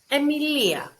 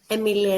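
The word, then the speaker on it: Αιμιλία: the exam for example the word emilia emilia is a greek name is written with alpha yota and the sound is e let's go to the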